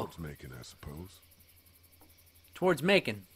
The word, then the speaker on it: Macon: Towards Macon. Rhymes with bacon.